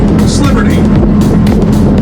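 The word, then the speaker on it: East Liberty: Each Liberty turns into Sliberty.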